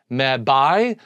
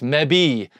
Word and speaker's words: mebi: But rather than call it BI, so rather than kib, bi, me, bi, they wanted it, maybe they sounded better, to call it B. So it's mebi, kibi, mebi, gibby, tebi, pebi, exbi, zebi, and yabi.